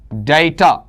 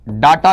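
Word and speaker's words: data: डाटा नहीं होता। कुछ पुस्तकों में आपको हो सकता है राजस्थान बोर्ड की पुस्तकों के अंदर एनसीईआरटी में भी आपको डाटा लिखा हुआ मिले। लेकिन शुद्ध उच्चारण इसमें क्या है? डेटा है और डाटा को अपन क्या कहते हैं?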